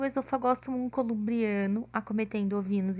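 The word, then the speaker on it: Oesophagostomum: nós temos ainda o esôfago samu o esôfago samu embora nome seja escrito com o né a gente não pronuncia como ele vem do latim a pronúncia é esofagosto bom o esofagosto molho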